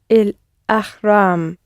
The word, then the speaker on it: الأهرام: Put the emphasis on the second bit of il ahram. الأهرام.